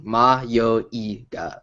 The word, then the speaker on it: Mayoiga: Ma, yo, I, ga. Those are the characters. That's how you pronounce it. But I say yoi because that's just how I verbalize things. I have to be like ma, yo, I, ga.